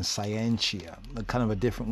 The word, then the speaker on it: scientia: science what is science scientia scientia or skianti if we go back to Latin it means knowledge to know skientia and the old Latin Martin oxfordian acts 40 in pronunciation latter English pronunciation scientia a kind of a